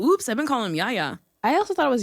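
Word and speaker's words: Yahya: I've been calling him Yaya. I also thought it was Yaya. I think it's Yaya. It might be pronounced Yaya or Ya. There's like a fun H in there.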